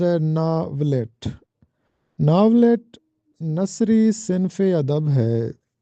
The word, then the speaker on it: ناولٹ: ہیں جو کہ غلط ہے۔ اس کا درست تلفظ ہے ناولٹ۔ ناولٹ نثری صنف ادب ہے۔ یہ افسانے اور